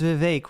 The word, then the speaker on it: Vivek: By the way, it's Vivek, rhymes with cake.